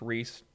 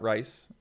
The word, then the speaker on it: Rhys: cool Reis says my name is pronounced Rhys buddy not rice yeah sorry buddy sorry Rhys it kind of looks like rise but it's Rhys that makes sense you're